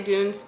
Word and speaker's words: DUNS: get a dunes number i don't know why i say dunes i think it's pronounced duns i honestly have no idea it's spelled d-u-n-s that's the data and